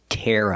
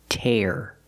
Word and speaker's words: tear: Tear. Tear up the paper. And the second one is tear. We use the ear sound like hear and beer.